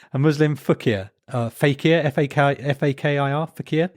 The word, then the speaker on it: fakir: Fakir, F-A-K-I-R, fakir.